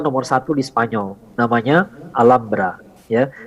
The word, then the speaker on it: Alhambra: satu di Spanyol namanya Alhambra ya mereka menyebutnya Alhambra tulisannya Alhambra ya Alhambra bacanya Alhambra berasal dari bahasa Arab Al Hamra ya karena itu serba